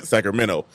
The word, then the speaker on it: Sacramento: Sacramento. Ain't no T in it. It's just minnow, like Elemento.